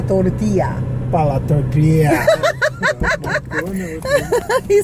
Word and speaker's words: para: It's para with an R. Pala tortillas. Pala or para? Para. With an R, para. You know how to roll your R, Josh? Yep. Put your, the tip of your tongue up behind your teeth, like in the roof of your mouth, and say a D.